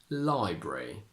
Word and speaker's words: library: a single one arbitrary Library you can play with this especially with the word Library it's more current and young to keep the schwa so you say library saying library is a